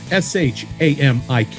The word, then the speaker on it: Shamik: SHAMIK is the way he spells his first name. Shamik. Straightforward. You, my friend, are a rock star.